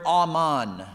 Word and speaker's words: aman: All right, the Hebrew word is the word aman. Le mot en hébreu c'est le mot aman. A W M A N.